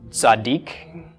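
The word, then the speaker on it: צדיק: And this is pronounced, got the Tza of the Tzadi, the A of the Patach, D of the Dalet. Chirik plus Yod is a long E sound, which usually is transliterated as just an I. And then the K or the Q of the Kuf. So Tzaddik.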